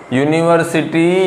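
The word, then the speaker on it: university: में होता नहीं है क्योंकि यूनिवर्सिटी का उच्चारण करने के बाद निकल कर आता है यूनिवर्स सिटी या फिर यूनिक फॉर्म अब इन दोनों शब्दों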